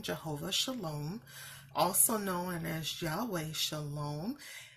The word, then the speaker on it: Jehovah Shalom: noted in here for jehova sholom is the pronunciation jehova sholom also known as Yahweh Shalom and the name